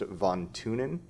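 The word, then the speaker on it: von Thünen: name is the best i'm pretty sure it's pronounced von tunin um but it sure looks like von thunen and uh well it's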